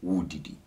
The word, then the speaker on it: woredidi: When we actually pronounce it, we don't actually pronounce the re part, we just say woredidi. But when written, it's written as woredidi.